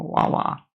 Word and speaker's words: Wawa: because it was within 5 minutes from a Wawa.